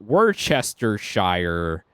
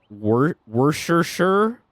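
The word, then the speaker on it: Worcestershire: pronounce werer sauce so there's people that do the fullon like word Chester Shire and then there's I've heard people say like wor wor sure like they just say wor sure but for me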